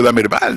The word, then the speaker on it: Damerval: pronunciar mi nombre que es tan sencillo da merval de valer no y que resulta porque